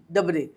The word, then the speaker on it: DABRE: नाम लिखकर, ईआई डबरे IAL ईआल और DABRE डबरे, तो क्योंकि बच्चे बाद में लोग कहते हैं कि ये स्पेलिंग नहीं पता तो कैसे बोले, प्रोनाउंसिएशन कैसे करें, तो मैंने आपको स्पेलिंग बता दी है।